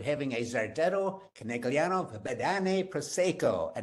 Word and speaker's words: Prosecco: I didn't say Prosecco, I said Prosecco. If you're in Italy and you meet an Italian winemaker and you call it Prosecco, he will ask you to leave. So the proper pronunciation is Prosecco.